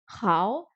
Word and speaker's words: 好: évidemment dans le ni hao, qui veut dire bonjour. 好 Hao. 好 Le O n'est pas très appuyé.